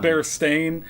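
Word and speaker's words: Berenstain: bears, which is that everyone remembers it as bear, but but it's spelled bear stain and it always has and it has for all of history, but nobody remembers it as bear stain.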